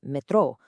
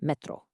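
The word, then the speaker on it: metrô: And even for the subway, while it's spelled really similarly, Brazilians emphasize the end with metro, whereas over in Portugal, it's just metro.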